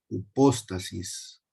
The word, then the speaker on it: hipóstasis: Ok, la palabra que se usa para certeza, que aquí abajo, que es la G5287, se pronuncia hipóstasis.